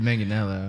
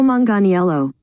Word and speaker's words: Manganiello: i got nothing i've always heard manganello yeah it's a tough one i got excited when i saw joe and they got really joey nailed that got this get real down after okay here's how they say it joe manganiello that was close no